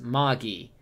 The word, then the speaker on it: Magi: what lung kings okay lung king says it's pronounced Maggie oh man what the